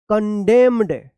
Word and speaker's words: condemned: कंडेम, कंडेम पढ़ेंगे, कंडेम, CONDEMNED, क्या पढ़ेंगे, कंडेम्ड, कंडेम्ड, यहां पे भी एन क्या है, साइलेंट रहेगा।